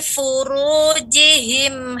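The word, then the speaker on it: فُرُوجِهِمْ: Perhatikan pada ru. Nah, ini juga ru ini tebal. Maka ketika diucapkan li furu dengan li furu ru. Nah, itu tipis. Ru dan getaran juga terlalu banyak. Furu. Nah, gitu.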